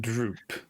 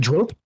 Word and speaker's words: Drope: called Droop. Yes, I pronunciate it Drope because it's a little bit more elegant, and he deserves the respect in which he is garnished from me by being my liaison.